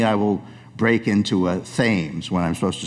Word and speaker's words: Thames: into the thames river it's actually the thames river but i know for